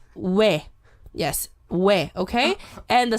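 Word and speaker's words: ㅚ: So first one is O plus E, and you pronounce we.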